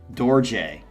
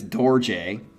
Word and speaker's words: Dorje: UK called DJ but it's spelled D o r j e and if he had not said in parentheses how to say it I probably would have it up just like everything else but it's DJ um and as far